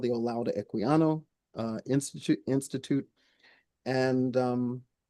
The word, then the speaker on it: Olaudah Equiano: And um Can you spell that? Um Olaudah O L A U D A H uh Equiano E Q U I A N O Sorry, I didn't